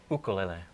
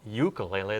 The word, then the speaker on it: ukulele: In Hawaii, they pronounce it ukulele.